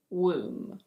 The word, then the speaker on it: womb: And similarly, this one is: womb. Womb. This word is pronounced: climb.